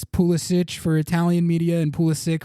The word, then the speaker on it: Pulisic: And Christian Pulisic just transferred to AC Milan, and apparently he told Italian media that it actually is pronounced Christian Pulisic, which is how I had been pronouncing it, and I corrected it from that.